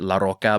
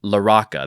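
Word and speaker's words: LaRocca: I wanted to Latinify it and pronounce it La Roca, but I watched an interview earlier to get the pronunciation, and they said La Roca. Or, see, I'm doing it again. They said La Roca.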